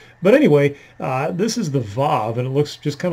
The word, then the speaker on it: Vav: And this is under the heading of Vav, which is more or less how you pronounce that. It is basically a W and sometimes honestly has no pronunciation whatsoever in the Hebrew, in Hebrew words.